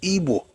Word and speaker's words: Igbo: Baston, it was published in 1921, it was explained that the best way to actually pronounce Igbo is Igbo, I-B-W-O, because they don't pronounce it like we do.